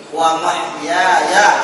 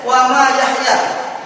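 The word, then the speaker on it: ومحياي: Inna sholati wa nusuki wa mahyaya. Ada lagi kemarin, bukan wa mahyaya, wa ma yahya. Ini masalah juga ini kan? Wa ma yahya dibacanya. Itu artinya sudah beda. Wa mahyaya hidupku.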